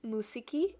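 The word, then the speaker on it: μουσική: just wrote music at the top which is pronounced musiki in greek and i wrote the translation there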